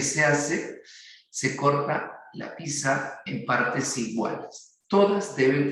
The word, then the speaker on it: pizza: Y en esta pizza, y hay algunos que a veces pronuncian pizza, se eliminó ya hace bastante tiempo de la Real Academia la pronunciación con la T, ¿no? Entonces solo se pronuncia así como pizza, como la torre de Pisa igualito, ¿ya?